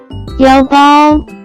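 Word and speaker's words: 腰包: can be pronounced as 腰包腰包腰包 Let's break down it to understand it even more. It has 2 characters, with different pronunciation. First character is 腰 pronounce with first tone.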